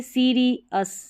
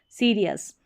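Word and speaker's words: serious: अब यहाँ पर देखिए सीरियस, सीरियस, सीरियस। अब RI के साथ में री अस जोड़ना है, ठीक है, RI री और फिर अस, सीरियस।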